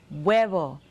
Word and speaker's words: huevo: say egg in spanish egg in spanish is wevel say it with me el huevo say it again el huevo and there you have that silent h amigos wow that sure